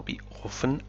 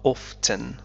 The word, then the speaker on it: often: هذه الكلمة تنطق بأوفن أو أوفتن. أوفتن أوفن. كلاهما صحيح.